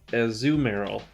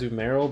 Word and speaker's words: Azumarill: is pronounced Altaria and as zoom arrow as zoom arrow so it's like not as you've Meryl but a zoom Errol but it's not a zoom mark azumarill it's as zoom arrow know